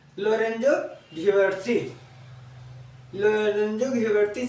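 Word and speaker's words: Ghiberti: और देखिए, जब इंग्लिश में हम लोग ता लिखते हैं तो ये इंग्लिश में टी होता है। ठीक है, तो कोई कोई इसका उच्चारण जो है ता करता है, कोई कोई इसका उच्चारण टा करता है।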